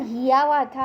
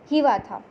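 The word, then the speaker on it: Hiawatha: Hivatha जो है, अब बोलो कि मैम हियावाथा है, एक्चुअली प्रोनाउंसिएशन जो है उसका वो क्या होगा, हिवाथा.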